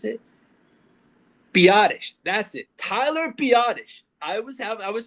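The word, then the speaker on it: Biadasz: Tyler Biottish. I was have I was saying badass so much on last episode. It's Tyler Biottish. the center. That is his name is Tyler Biottish. Not badass.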